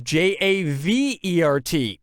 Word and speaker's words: Javert: That would be Javert, which is Javert, and is already pronounced as air.